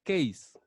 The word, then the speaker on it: case: gabinete o torre o su similar en inglés que significa o se pronuncia keys qué dices como quien